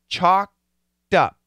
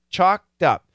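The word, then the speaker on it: choked: a w pronunciation there's no l the L is silent chocked up chocked up this word alone chocked with a t okay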